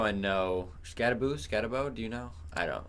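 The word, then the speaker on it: Skattebo: I mean, it's spelled with one O, but I've heard people say Scatabo. I've heard a overwhelming amount of people say Scatabo. Okay, But so Scatabo, maybe that's wrong.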